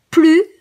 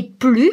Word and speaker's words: plus: Et plus, ça peut aussi se dire plus. Quand vous dites 5 plus 4, eh ben c'est aussi ce plus-là. Dans un cas, on ne prononce pas le S, et dans l'autre cas, on prononce le S.